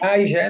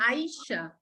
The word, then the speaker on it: Ayesha: It's like Ayesha, no, Alvaro, it's like Asia, pero con Ayesha.